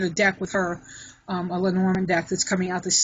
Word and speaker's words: Lenormand: I have that's Oracle's Lenormand or Lenormand, which I'm told is the correct pronunciation by Mr.